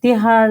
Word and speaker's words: Tihar: Yeah, Tihar, like, yeah, you pronounce very well.